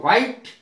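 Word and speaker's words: white: double H वाई वाई वाई माने क्यों और वाइट डब् एच आई टीई वाइट वाइट माने सफेद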